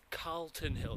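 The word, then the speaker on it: Calton Hill: and 12 children good on you now it's pronounced Carlton Hill not Carlton or Carlton Carlton if you're wanting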